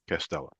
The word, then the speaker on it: Castella: this name and it's castella wait am I pronouncing that correctly castella is that it castella yes castella okay so I you know I do my